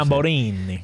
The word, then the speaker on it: Tamburini: Because I am a fan of MV Agusta, and my dream bike was always like the F4 Tamburini, or how you say it. Tamburini.